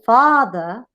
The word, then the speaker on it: father: So for example, in this case, when you say father, in which the first syllable is a stress, we call it stress.